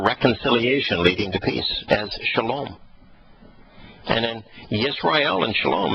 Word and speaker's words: shalom: They actually know that how to pronounce the Hebrew word for reconciliation leading to peace as shalom.